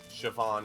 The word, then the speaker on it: Siobhan: Siobhan. Siobhan, I think is the way you pronounce that.